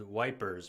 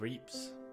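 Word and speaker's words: Ypres: gas is already here dubbed wipers by British troops due to its difficult pronunciation the Belgian town of Eeps of Eeps was a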